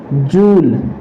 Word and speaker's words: Joule: जूल। जूल, जिसे इसकी spelling होती है JOULE, जूल।